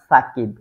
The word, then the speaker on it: সাকিব: দ্বারা হয় দুইজনই শাকিব কিন্তু একজনের নামটা উচ্চারণ করা হয় শাকিব আরেকজনেরটা সাকিব এটার কারণ কি এটার